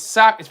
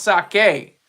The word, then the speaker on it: sake: Japan Sak s it's Sak it's pronounced sake everybody says saki saki saki saki it's not saki it's sake sake is the pron